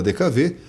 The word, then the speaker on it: DKW: No Brasil não pronunciamos DKW. O carro ficou conhecido como DKV pela sonoridade da letra W no país em que a fábrica foi fundada.